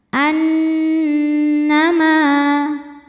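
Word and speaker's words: أَنَّمَا: dengan jelas fa'lam annama Nun dihukumi ghunah musyaddadah karena nunnya bertasydid atau boleh juga disebut dengan Nun musyaddadah atau wajibul ghunah maka cara bacanya Nun ini kita dengungkan Nah kalau ini bunyinya n tapi tahan sampai ada suara masuk hidung annama Ma hukumnya adalah Mad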